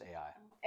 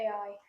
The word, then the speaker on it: Ai: the west of AI it's just pronounced ai ai to the east there